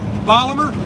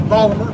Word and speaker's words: Baltimore: city of my birth polymer that's the proper way to say it if you're from baltimore you say polymer unfortunately the baltimore accent